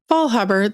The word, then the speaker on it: Faulhaber: Did I say it right, Mary Ann? Faulhaber. Faulhaber, the German way.